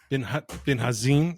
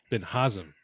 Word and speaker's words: Binhazim: my good buddy Amir bin bazim is that how you pronounce it no but nice try I like it all right how do you pronounce your last name B sorry Ben hazam okay sorry no you're